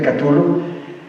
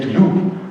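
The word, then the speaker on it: Cthulhu: destacan los mitus de catul yo digo catul pero la verdad no tiene pronunciación usted podría decir tutulu tutu O podría decir tulu o podría decir tú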